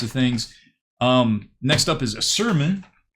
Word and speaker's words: Asurmen: Next up is Asurmen, or Sermon, but I suppose it's supposed to be Asurmen because men is pronounced definitely different than man, but who knows.